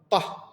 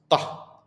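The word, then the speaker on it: ط: We will start by the ta, ta, and it's higher pronunciation of T, so we not say ta, we see ta, ta. It's like bomb coming from the mouth.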